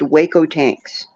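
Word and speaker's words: Hueco Tanks: certain Meridian you end up at what is pronounced Waco tanks but Waco tanks is giant boulders and they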